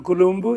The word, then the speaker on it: Columbu: down this video so let's see how Franco pronounces his own name Hi how are you I'm Dr Franco kumu in caroa I'm Dr Franco kumu did you